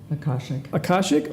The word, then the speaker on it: Akashic: I'm gonna murder this pronunciation, so you got to help me with it. Akashic hands healer. Akashic?